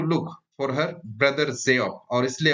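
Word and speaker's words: Geoff: बहुत सारे लोग जियोफ को गोफ भी पढ़ते हैं, जो कि गलत है। इसका सही उच्चारण जो होता है वो जियोफ।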